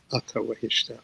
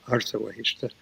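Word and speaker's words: Asha Vahishta: Wahumana, or Mana Wahu, good mind, and Asha Wahishta. I'll call it Ata Wahishta, Artha Wahishta, the older pronunciation.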